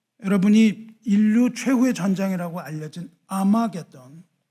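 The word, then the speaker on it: 하르마게돈: 여러분이 인류 최후의 전쟁이라고 알려진 아마게돈은 원 발음이 하머기돈입니다. 하머기돈은 히브리어고 헬라어로 음역을 하면 아마게돈이에요.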